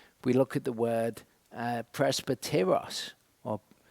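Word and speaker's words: πρεσβύτερος: We look at the word presbyteros or presbyteros, as it would be pronounced.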